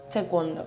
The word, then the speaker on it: taekwondo: Tekondo. Yeah, cuz I say taekwondo.